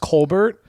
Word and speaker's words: Colbert: It's actually pronounced Colbert.